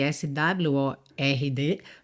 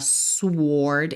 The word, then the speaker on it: sword: Se escreve s w o r d, mas esse w não é pronunciado, tá? É uma exceção aí. Então, a gente não fala "suord" e sim "sword".